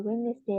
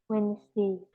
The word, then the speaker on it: Wednesday: and I wash my hair we on the wedesday and Saturday Wednesday bacanya Wednesday wesday ya jadi cara bacanya nih w benar-benar